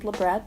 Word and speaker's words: labret: the best my knowledge the word doesn't have French origin it literally just refers to this piercing so it is pronounced labret I've seen a lot